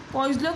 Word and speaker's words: Poiseuille: पोइसलो की स्पेलिंग क्या है आप लोग देख सकते हैं, POISEUILLE, ठीक है।